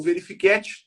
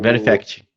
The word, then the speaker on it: Verifact: Ou usar, né, o verifiquete, né, como é que é o nome, Rodrigo? Esqueci, pronunciei errado. É o Verifact.